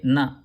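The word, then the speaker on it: ந: it's the same sound it's phonetically not the same to say this one keep the tongue on the teeth and say na okay keep the tongue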